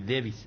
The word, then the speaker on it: Davis: Yo particularmente le pregunté al colombiano de 23 años, de Barranquilla, ¿cómo se pronuncia? Y Davis, así como se escribe.